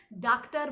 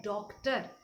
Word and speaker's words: डॉक्टर: आप लोग ड में आ की मात्रा लिखने के बाद ये तो अर्धचंद्र बिंदु का जो साइन देते हैं, इसको उच्चारण करना भूल जाते हैं। बहुत दफ़े लोग इसको डॉक्टर बोल देते हैं, लेकिन ये डॉक्टर नहीं है। बिल्कुल जो प्रोनाउंसिएशन इसका इंग्लिश में है वही प्रोनाउंसिएशन हम लोग हिंदी में भी इस्तेमाल करते हैं। ये है डॉक्टर।